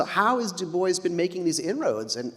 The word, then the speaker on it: Du Bois: has Du Bois been making these inroads?